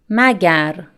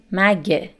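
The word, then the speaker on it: مگر: to make an exception magar and this spoken pronunciation mague and remember that we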